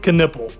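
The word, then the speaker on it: Knueppel: Now, I think that's how you say his name. That's the only way I ever hear the Duke announcer say it. So we're going with Knipple, okay? The nipple is out, okay?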